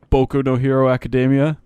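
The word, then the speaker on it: 僕のヒーローアカデミア: are Sideshow Bob voice actually it's pronounced boku no hero academia boku macadamia nut Oh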